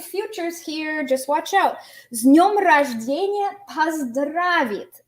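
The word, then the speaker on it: с днём рождения: And notice you don't pronounce it as с днем рождения. This turns into a z because the d is a voiced consonant. So you say с днем рождения.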